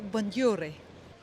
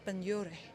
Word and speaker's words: Benlliure: The next stop and the last stop is Galleria Benlliure. Gallery Benlliure. Gallery Benlliure. It's hard to pronounce.